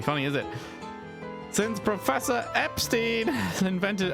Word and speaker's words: Epstein: Since Professor Epstein invented Apparently it's supposed to be pronounced Epstein, like Einstein.